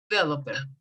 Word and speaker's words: developer: A a web developer, Developer. Developer. The accent goes in the second. Ahí el acento va en la segunda, en la segunda, ¿cómo se dice? Sílaba, perdón, sílaba.